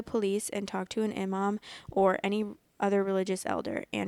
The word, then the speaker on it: Imam: Imam, I still don't know if I'm, wait, let me see actually if I'm, Imam. I'm pronouncing it right.